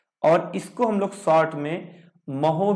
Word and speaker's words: mho: इसको ohm inverse, और इसको हम लोग शॉर्ट में महो भी कहते हैं, यानी कि इसका सिंबल शॉर्ट में क्या हो गया, मो, और स्पेलिंग है MHO।